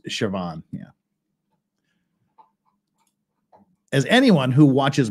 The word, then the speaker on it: Siobhan: mentioned sioban there yeah siio BH an is shoban yeah as anyone who